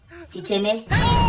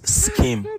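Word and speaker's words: scheme: First pronounce these words before you leave. Sicheme. What? Sicheme. It is skim.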